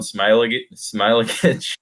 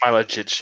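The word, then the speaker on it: Smailagić: I don't really know how to say his last name, but Alan Smilagic. I think it's Smilagic. Yeah, that's what I've heard.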